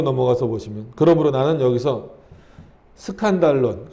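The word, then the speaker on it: σκάνδαλον: 9번으로 넘어가서 보시면, 그러므로 나는 여기서 스칸달론, 그 밑에 친절히 각조가 달렸죠. 이 헬라어를 읽으면 그렇게 스칸달론이라고 읽혀진다는 거예요.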